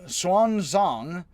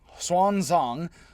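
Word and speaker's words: Xuanzang: chinese buddhist monk uh swan zhang x is pronounced hs and i pronounce it as best i can swan song famously journeyed to the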